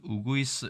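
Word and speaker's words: うぐいす: 다양한 종류가 있다고 합니다 다만 일본에서는 꾀꼬리 자를 쓰고 우구 우구이스 라고 발음을 하고 휘파람새 이야기를 하고요 어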